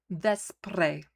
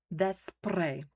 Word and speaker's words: Vespre: Vespre. That's the word. Vespre. V-E. The E is pronounced like the E in test, est, with the roll. Vespre.